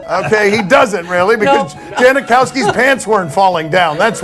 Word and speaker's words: Janikowski: 40-year old Sebastian Janikowski Janikowski is how you pronounce he's been in the